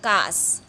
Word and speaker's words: कास: काश, ये शलगम वाला श आया है यहाँ पे, तो काश यानी खांसी, और कास, ये जो सब्जी वाला स है दांत से प्रोनाउंसिएशन करते हैं।